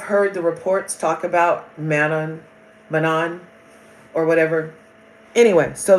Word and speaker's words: Manon: The N is silent. Mano. So it's not mono. It's mano.